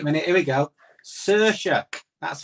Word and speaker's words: Saoirse: Saoirse. That's how you pronounce it.